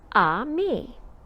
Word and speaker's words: ami: say friend in french the word is ami my mom says you say it like this ah me i love french everything